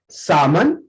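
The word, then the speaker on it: salmon: अगर कभी आपके एल के साथ ए ओ यू आएंगे, उस कंडीशन में एल को साइलेंट कर लिया जाता है। कॉफ, सामन, चौक एंड योग।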